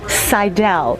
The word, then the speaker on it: Seidel: This is Seidel. Anglicized, it would be pronounced Seidel. That's how I take it.